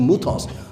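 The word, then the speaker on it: μῦθος: In Greek, you pronounce the Y's with U, so it's a muthos, though you spell it M-Y.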